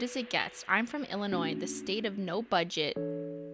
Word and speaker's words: Illinois: Illinois Illinois Illinois Illinois I know the S is silent Illinois but with an S